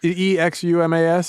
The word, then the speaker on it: Exumas: It looks like eczema to me. And it's really hard for me not to call them the Exumas. Is this E X U M A S.